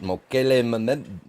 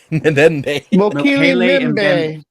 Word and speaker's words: Mokele Mbembe: Oh, Big Bad Mama knows about Mokele Membe. I can't even pronounce it. Membe. Mokele Mbembe.